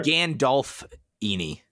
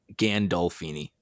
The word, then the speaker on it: Gandolfini: probably butchered it anyway we were saying gandalf eeny as opposed to gandolfini hmm i think we were putting too much emphasis on the f at the end of dolph perhaps i've got too much